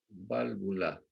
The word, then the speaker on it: válvula: con el nombre de válvula. Y ojo, pues las dos son B minúsculas, acento en la A.